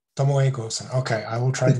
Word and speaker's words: Tomoe Gozen: The pronunciation is Tomoe Gozen. Tomoe Gozen.